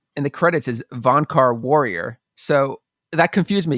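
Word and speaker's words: Vohnkar: Yeah, Migosh is a great name, and Valkar. That one's was he the warrior guy? Yeah, the only thing with Valkar, or Vonkar, I think it is. Am I saying it wrong? Von Car.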